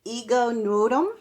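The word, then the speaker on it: Ego Nwodim: Is it Ego Nud?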